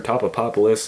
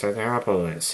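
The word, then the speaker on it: Tatopoulos: And they have a running gag about mispronouncing his name. Oh, Mr. Topopopoulos, and he says, it's Totopoulos.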